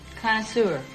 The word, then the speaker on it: connoisseur: Connoisseur. Connoisseur.